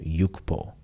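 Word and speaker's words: 육포: oh six giving up both this word and this word are pronounced yukbo so both beef jerky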